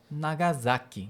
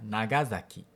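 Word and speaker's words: Nagasaki: Então a outra cidade muito famosa, por um motivo não legal, é Nagasak, que seria Nagasak. Dois erros. Primeiro, z não se acentua. Quer dizer, a penúltima salaba não se acentua.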